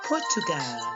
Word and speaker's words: Portugal: In Spanish, it's pronounced Portugal.